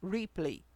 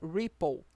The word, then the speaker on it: Ripple: Esse falhado aqui é o modo Replay, ou o correto, a pronúncia seria Ripple, que é para quando